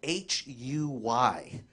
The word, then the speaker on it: Huy: But my Vietnamese name, my real name, is spelled H-U-Y. It's pronounced Huy.